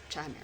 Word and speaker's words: Chimaira: This is Oh, Chimaira. That's how you say it? Okay, why isn't it c h like chai? Chimera. Oh. Okay. But it is Chimera.